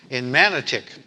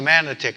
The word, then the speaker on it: Manotick: times I was here, I was over in Manotick, and I remember the first time actually coming up this way, and we were actually going to Manotick, and I was driving with this other young priest.